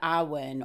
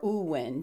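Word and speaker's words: Awen: rays of inspiration being the ahwen or uwen different pronunciations with this celtic language but this word awin means essence or inspiration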